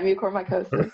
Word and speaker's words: mucormycosis: Is that how you pronounce it? Yeah, mucormycosis.